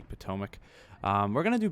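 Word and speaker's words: Potomac: correctly Battle of Shiloh I know I mispronounced pomac I said pmac it doesn't even sound right but yes it is indeed supposed to be pomac um we're going to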